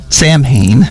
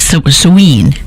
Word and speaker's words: Samhain: It was called Samhain. Maybe actually pronounce it something like Samhain. Oh, you're right. Weirdly. Samhain, you're right. It looks like Samhain. I don't know why they bother to spell it so stupid.